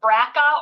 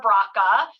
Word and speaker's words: BRCA: questions I'm asked is is it braca or brocca uh potato potato I do not care how you say it uh brca is another